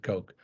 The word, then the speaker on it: Koch: charles coke okay or some people pronounce it cook but uh yeah i think he pronounces it coke um they they have